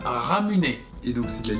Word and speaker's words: Ramune: Donc la boisson Ramune se prononce Ramuné.